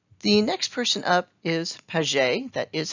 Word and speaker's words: Piaget: his name but it's it is a french name so that's why it's pronounced kind of not as it's spelt but with pages we